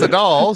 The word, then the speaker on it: Adal: lucky and of course adele agreed to be on the show because he shares these views yeah yeah no no no you said my name wrong it's a doll so direct any hate